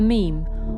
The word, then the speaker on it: meme: never heard of a meme or you were wondering where that word actually comes from. The term meme is a neologism which was created to rhyme with gene, and the theory behind